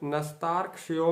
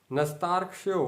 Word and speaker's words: नस्तार्क्ष्यो: अब हम इसके सामने नस, न और आधा सा और जोड़ देंगे तो ये बन जाएगा नस्तार्क्ष्यो, नस्तार्क्ष्यो, नस्तार्क्ष्यो, नस्तार्क्ष्यो, नस्तार्क्ष्यो।